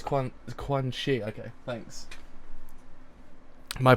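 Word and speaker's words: Quanxi: Oh, so it's Quan Shi. Okay, thanks. My pronunciation sometimes is terrible.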